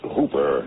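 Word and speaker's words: Houber: me what happened Sheriff the names Hooper spelled h-o-u-b-e-r but pronounced a rhyme with Cooper I got it so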